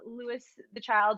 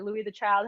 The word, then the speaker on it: Louis the Child: Louis the Child or Louis the Child, however you want to pronounce it, is 66666.